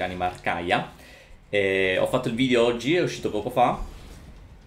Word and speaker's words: Anima Arcaia: Ho portato al grado 6 Animarcaia, che a quanto pare l'ho sempre pronunciata male, ho sempre pronunciato Animarcaica invece Animarcaia.